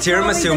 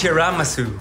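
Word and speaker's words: chashu: chanelas no I just bought it it's not pronounced tiasu Mom it's chasu tiasu no chasu that's the actual way to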